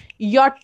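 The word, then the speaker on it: ja: जे ए लिखते हो, उसे हम प्रोनाउंस करते वक्त जा नहीं करते, हम लोग या करते हैं, राइट।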